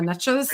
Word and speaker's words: niche: is, or niche, however, I like niche because it rhymes with riches. Riches are in the niches. So I go with niche, not niche.